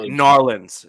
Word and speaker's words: New Orleans: New Orleans begs to differ. Sorry, Narlands is the proper way of saying it.